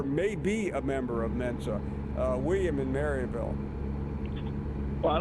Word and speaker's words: Mensa: Final question to get in Mensa, okay? Yeah. Spell it for me.